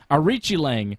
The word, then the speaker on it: Aoriqileng: Aoriqileng, that's how you pronounce it, I just remembered. Aoriqileng beat Jay Perrin by decision.